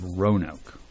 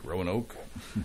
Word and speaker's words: Roanoke: I just ran Oak there's an A in there row and Oak Rowan Oak it's like row row